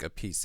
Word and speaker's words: Appice: It's actually Carmine Appice or Appice, but it seems like Appice is the preferred pronunciation.